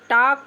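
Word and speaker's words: talk: भी पहले आएगा तो टी ए एल के हम टॉल्क नहीं पढ़ेंगे टॉक पढ़ेंगे एल नहीं पढ़ेंगे एल को हम नहीं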